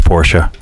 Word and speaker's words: Porsche: myself I'm that way yes Chuck it's Portia but I know you're never going to say it right just because that's how